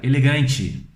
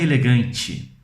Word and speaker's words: elegante: Mas não é elegante, é elegante. Elegante.